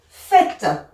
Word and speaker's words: faites: Nous, et c'est là où on avait dit attention, on voit AI, mais on prononce E. Nous faisons. Ça, c'est vraiment irrégulier et c'est vraiment bizarre. Hein. Vous faites.